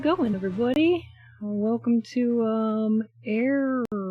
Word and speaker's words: Eragon: everybody Welcome to um airon it's spelled like Dragon but with an e instead of a d there's a whole